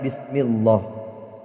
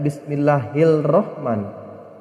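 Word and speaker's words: بسم الله الرحمن الرحيم: huruf roh di cara membacanya tidak bismillahil Rohman tapi Salma bacanya Bismillahirohmanirohim bismillahirohmanirohim seperti itu membacanya Anda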